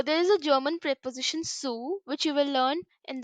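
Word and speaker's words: zu: is a German preposition Sue which you will learn in the upcoming videos so C it is spelled with a z but we are pronouncing it with s all right so these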